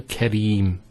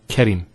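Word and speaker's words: كريم: it's he hem ibrahim similarly here we have kareem now kareem is actually a adjective that means one who's generous so here we have the ra kasra followed by the yeah with the out here so karim not kerim next word here has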